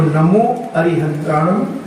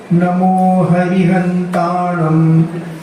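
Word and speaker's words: नमो अरिहंताणं: तो नमो अरिहंताणम, नमो सिद्धाणम, इसका उच्चारण भी कई लोग हरि बोलते हैं, हरि। कई लोग हमने सुनते हैं ना, नमो हरिहंताणम, हरि नहीं बोला, अरि, अरि, अर और अरु, ये तीन हैं, इनको बोलना है।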